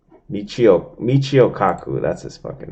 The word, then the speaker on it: Michio Kaku: This is the dude, man, that they say, some people say he's actually, this Miku Kaku, whatever the fuck his name is, Miku Kaku. I know I'm not saying it right.